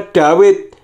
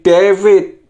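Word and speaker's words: דוד: berikut adalah huruf wow Misalkan seperti ini hurufnya kalau ditransi literasi dalam bahasa Inggris menjadi V sedangkan Trans situasi dalam bahasa Indonesia itu W misalkan Dawin hurufnya seperti ini dalet wow dalet maka membacanya dawet tetapi oleh penerjemah bahasa Inggris mentransi literasinya menjadi David menggunakan V jadi W nya menjadi V wownya menjadi V kemudian kalau dalam bahasa Indonesia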